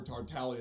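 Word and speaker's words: Tartaglia: english voice actor for tartalia because they don't know that the names origin is of italian descent where the g is silent but that's all right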